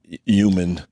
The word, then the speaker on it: human: Yeah, some people don't Human. like to say human. Human. Human or something like that. Yeah, they There's- fuck it up a little bit. There's an H there that won't be ignored.